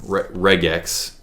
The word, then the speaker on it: regex: is we could have used the reject um regex really is how we pronounce it reg X function ction and now I could go ahead